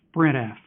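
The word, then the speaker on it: sprintf: into a file for that we have the S printf function which means string print formatted and it's often pronounced spread f it's a snap to learn because the only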